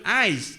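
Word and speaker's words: εἰς: Ang Greek preposition ng four sa English ay eyes. No ang pronunciation eyes.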